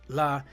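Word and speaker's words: ל: So the word la is numerical value 30, pronounced la.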